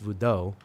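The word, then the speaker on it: Vodou: Vo is like V O D O in Haitian Creole pronounced voodoo, I guess.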